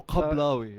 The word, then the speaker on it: Kablawi: if you wanna Pronounce Kablawi. it right with a ka. So Kablawi.